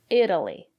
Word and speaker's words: Italy: examples Italy it Italian Italy the syllable after the letter T is not stressed we pronounce the letter t as a fast D Italy I've never been